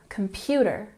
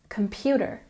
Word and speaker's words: computer: a word for example in computer the stress is on the second syllable computer computer every word that has